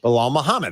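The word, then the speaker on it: Belal Muhammad: how do you say his name balal muhamad balal Muhammad that's easy okay I thought you said something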